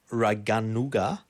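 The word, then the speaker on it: Raganuga: Of raanuga. Yeah. Bi sadana. Well, don't even bother correcting my pronunciation.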